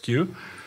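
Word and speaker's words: queue: of net net Netflix Q I can't pass uh pass by my use of the word q without pointing out that it is the letter Q followed by four silent letters but that would take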